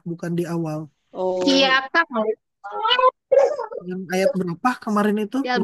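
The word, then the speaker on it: كَ: Iya, kak, kak, kak. Dan harus dibaca fathah. Yang menjadi harap jar dibacanya kaf. Gak dibaca ki, gak dibaca ku. Dibacanya ka dan ada di awal kalimat.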